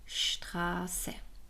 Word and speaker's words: Straße: 'Straße' Some points should be mentioned about the letter 's'.